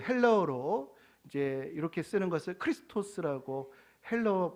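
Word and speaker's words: Χριστός: 한번 살펴보겠습니다이 그 헬로로 이제 이렇게 쓰는 것을 크리스토스 헬로 발음이 그렇게 되는데이 크스 크리스토스 이제이 동양에 와서이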